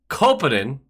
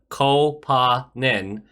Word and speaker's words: Koponen: Kopanen, which is how he wants his name pronounced, I guess. Kopanen.